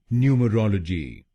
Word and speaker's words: numerology: और आपको तीसरे शब्दांश पर यानी ROL पर जोर डालना है। न्यूमरोलॉजी। न्यूमरोलॉजी। गलत प्रोनाउंसिएशन में हम पहले शब्दांश पर यानी NU पर जोर डालते हैं, न्यूमरोलॉजी।